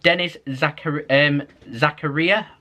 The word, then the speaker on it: Denis Zakaria: Comes in the form of Denis Zakaria, oh, that's how you say his name, of Borussia Monchengladbach.